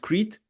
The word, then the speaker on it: Crete: You pronounce it Crete, right?